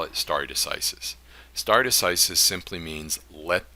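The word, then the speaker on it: stare decisis: s-t-a-r-e-d-e-c-i-s-i-s now that's Latin Starry decisis is how it's traditionally pronounced but but if I have any Latin scholars in here you're probably aware that the C sound that we use is usually in Latin so you can argue that this is star a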